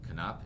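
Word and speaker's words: Knoop: This one I actually looked up, and Knopp is correct. Bobby Knopp. It looks like Noop, but it's Knopp.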